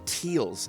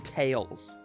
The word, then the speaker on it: Tails: gotta admit you said teals everyone else calls them tails oh well that's just his northern irish mark his name is tails not teals unless we've been saying